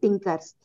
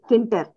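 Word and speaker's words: Tkinter: the concepts on the Tinkers uh sorry I can say kinter not uh Tinker it can be called as skin test T is silent showing warning or errors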